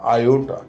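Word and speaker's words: iota: आई का मतलब होता है आयोटा।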